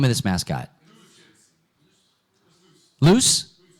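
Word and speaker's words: Luce: name of this mascot loose loose okay luu c e loose Little Chibi Anime character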